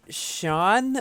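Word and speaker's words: Sián: What do I think about the Lamborghini Sean? Apparently it's pronounced. It's so weird to pronounce it that way, but because that just sounds like the name Sean.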